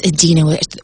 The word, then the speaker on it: Idina: with an eye and she said it it's adena with a short eye oh okay i feel